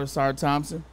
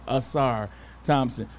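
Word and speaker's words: Ausar Thompson: When I looked at one thing that bothered me about Asar Thompson, and that's how you say it, I got it right there, Asar Thompson.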